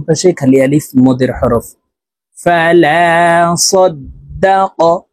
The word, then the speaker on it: فلا صدق: ফালা সাদ্দাক, তাসদীদ ওয়ালা হরফ দুইবার উচ্চারণ হবে, একবার পূর্বের হরকতের সঙ্গে আরেকবার নিজ হরকতের উচ্চারণ হবে।